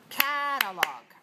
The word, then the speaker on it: catalog: Okay, the next word is catalog. Catalog. Catalog. How many syllables do you hear? Catalog. 3 syllables. Where's the stress? 1.